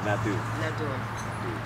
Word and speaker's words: Nadeau: I say that with a horrible French bing to it, so how would you pronounce your last name, but the actual French pronunciation? Nadeau.